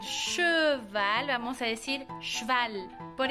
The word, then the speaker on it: cheval: De hecho, esas E's que se deben de pronunciar E, muchas veces nos las comemos. Por ejemplo, la palabra che. Val. No vamos a decir cheval, vamos a decir cheval.